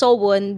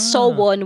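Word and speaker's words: SONE: so this is okay it's pronounced sobun because it implies that Girls Generation will always be one with their fans I'm getting this from the wiki it's so one which translates to wish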